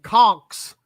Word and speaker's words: Conchs: of you at home he's saying conks c-o-n-k-schs that's how it's spelled yeah there you go